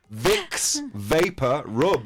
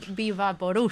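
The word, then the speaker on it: Vicks VapoRub: Visvaporu. What the hell is that? Vicks, vapor, rub. It's 3 different words. Yeah. Spanish people. En español, Rob Rob. se dice Vivaporus. Vivaporus. Because Es así. if you don't say it like that, the person behind the counter in the chemist doesn't understand. Of course not.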